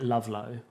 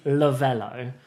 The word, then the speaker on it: Lovelo: name that we've picked a lot of people mispronounced a lot of people call it lovelo but it is lavello um maybe you should put a little maybe